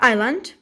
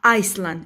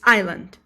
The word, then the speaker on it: island: after dinner we have island gulemon don't pronounce this word as uh iceland it's not iceland it's island okay island island island uh actually